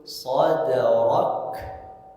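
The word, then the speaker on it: صَدْرَكَ: Maka ketika membaca kaf ketika sukun sadrak, sadrak. Nah, tidak banyak yang keliru itu bacanya seperti ini. Alam nashrah laka sadrak. Rok, bukan rok tapi rok.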